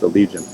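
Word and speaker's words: Allegaeon: Alle Legion allegion yeah they just have an odd spelling but yeah pronounced allegian but Allegiance a little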